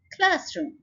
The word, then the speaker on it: classroom: Classroom, again 2 syllable word है और first syllable के ऊपर हम स्ट्रेस डाल रहे हैं classroom.